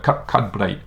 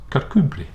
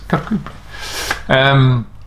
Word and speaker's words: Kirkcudbright: And if you read it, a lot of people call it Kirkcudbright, but it's actually pronounced Kirkcudbright. That softness, Kirkcudbright.